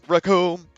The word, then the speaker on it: Recoome: Introducing in the 5th corner as the newest member of Team Muscle, his name's RECOOME. It rhymes with doom, and we're gonna be seeing him all too soon.